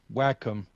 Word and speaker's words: Wacom: I mean, it's Nikki's pointing out in chat, it's pronounced Wacom according to Google search. Thank you. Well, there you go. now we got it. All right, Wacom.